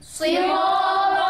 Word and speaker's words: صراط: সিরাতাল الذين أنعمت عليهم صراط الذين أنعمت عليهم এটা সিন নয়, এটা সদ, সুতরাং আমরা সদের মতো করে উচ্চারণ করব। صراط الذين أنعمت عليهم صراط الذين أنعمت عليهم প্রিয়